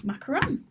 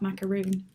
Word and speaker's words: macaron: We have got the fabulous Rachel from Mademoiselle Macaron. Absolutely, Did you I said pronounce it that right. I was like, is she good? I was really concentrating. I was concentrating so hard because it's macaron, not macaroon.